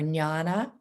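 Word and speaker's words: jñāna: meaning meditation or contemplation and janana so i'm saying that phonetically but that might be said joanna or nyana that means intuitive wisdom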